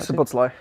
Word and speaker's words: Szoboszlai: Dominic Szoboszlai.